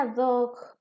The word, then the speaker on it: ad hoc: El siguiente se pronuncia ad hoc.